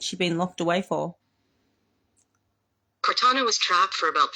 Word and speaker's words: Cortana: Cortana.